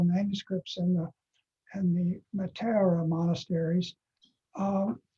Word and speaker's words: Meteora: how to say it the accent is on the wrong is on a different syllable than you find comfortable so so this is pronounced matera uh not meteora for example anyway that's trivial um